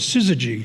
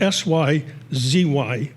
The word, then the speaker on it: syzygy: So I'm just going to tell you this, the name of this poem is Syzygy, and it's a word not that many people know, and it's spelled S-Y-Z-Y-G-Y, just so you know that.